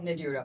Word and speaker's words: Nadurra: बट नाउ you have mentioned the name of the brand which is Nadura, if I'm pronouncing it right. It's pronounced as Nadura. Nadura.